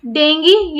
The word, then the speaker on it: dengue: तो इसका correct pronunciation जो है वो है डेंगी, DENGGEE, ये इसका करेक्ट प्रोनाउंसिएशन है।